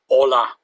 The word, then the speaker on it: hola: beginning of the text you've got the letter h which is always silent in spanish that's why we're saying hola not pronouncing the h other key thing to